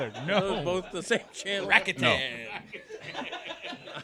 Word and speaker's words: Rakuten: Rakuten. I like Rakuten better. You know, you gotta have that third syllable.